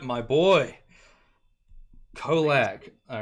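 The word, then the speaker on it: Colaque: put out a post saying that's how you pronounce his name i i was calling it cola q collacu or something um and then they they came out and said it was kolak um and i was just like well that's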